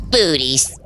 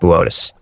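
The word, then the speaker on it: Boötes: Booties. Buus booties. And it says booties on the teleprompter. It's pronounced Botus.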